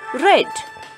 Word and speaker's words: read: ead and we are going to read it pronounce it as red okay okay everyone so let's move on that's